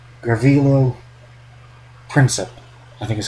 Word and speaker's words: Gavrilo Princip: I always pronounce his name wrong. Gavrilo Princip, I think is how you pronounce it.